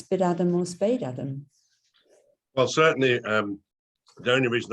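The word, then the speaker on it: Spadeadam: And Anna thinks it's Spid-Adam. Spid-Adam, oh, right. Spade-Adam is the correct pronunciation.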